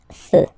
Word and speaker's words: feux: You don't put s, but you will put x instead, and then you don't pronounce it. Des feux.